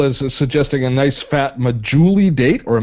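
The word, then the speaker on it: Medjool: Crystal is suggesting a nice fat majuli date or a majule date as for sweets. Do it. Is that, did I pronounce that right?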